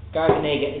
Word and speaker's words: garganega: in Suave is H gaggar oh I always pronounce this wrong I have to have to look at drawing garganega garganega is the name of the grape and it's